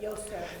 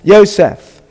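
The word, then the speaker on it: יוסף: How do you pronounce that? Yosef. Yosef.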